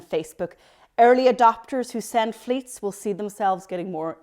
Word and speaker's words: Fleets: in late 2020 and they're called fleets yeah it rhymes with tweets and they're called fleets they flutter away after